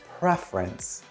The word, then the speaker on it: preference: your preference by the way that word is pronounced preference prefer preference okay let's get into it I